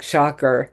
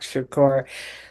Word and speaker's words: Shakur: a rapper by the name of Tupac Shocker. He couldn't even pronounce his name, Tupac Shakur.